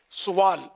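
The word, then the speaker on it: سُوال: ایک تو لفظ سوال ہے یا سوال، تو صحیح تلفظ اس کا یہ کہ سین پر پیش سوال، اور باقی رہا یہ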